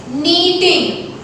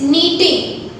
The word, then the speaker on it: knitting: And the second process is knitting. Here, when you speak the spelling of knitting, when you speak this word, K is silent. It's not knitting, it's knitting.